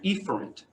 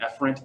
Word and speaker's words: efferent: split afferent and efferent i prefer to say afferent and efferent so we don't get the spelling mixed up and so that's that's how you can say if you ever hear it efferent it's not wrong it's just we like to say efferent so we can spell it correctly and so afferent consists